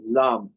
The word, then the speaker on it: lam: So for example root chakra beach mantra or the the seed mantra is lamb l a m.